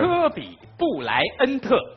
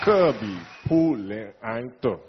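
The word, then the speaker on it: 科比·布莱恩特: 肯定是你的名字，请注意听我的发音。 Okay. 科比 · 布莱恩特。科比 · 布莱恩特。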